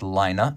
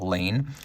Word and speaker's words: Laine: We have a matching LAINE buckle, and by the way, it is pronounced LAINE, not LAINE. I thought it might be LAINE initially because that's how my middle name is pronounced, but it is LAINE, and I only had